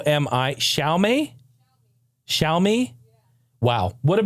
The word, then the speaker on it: Xiaomi: new news hey how about how do you pronounce this phone company X IA o mi shalt me shalt me Wow would have been the last word I guessed in my entire vocabulary shall me shall me show me well shall me x